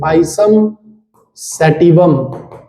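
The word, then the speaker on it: Pisum sativum: Spelling आप check कर लेना, सेटिवम। पाइसम है ना, SUM है सारी, पाइसम। इट्स PISUM, पाइसम सेटिवम, ठीक है।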